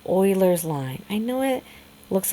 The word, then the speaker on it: Euler's: And that special line is called Oilers's line. I know it looks like it says Ulers's line, but it's pronounced Oilers's line.